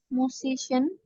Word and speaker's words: musician: Ya, musician. jadi C-nya dibaca S juga.